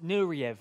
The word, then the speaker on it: Nureyev: It's pronounced Nureyev.